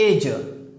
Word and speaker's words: edge: Next एज। You know very well that D is the silent letter in the word age.